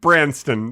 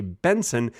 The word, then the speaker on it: Benson: ears you'll notice that i just said my last name wrong it's actually benson you probably noticed i said branston congratulations if you noticed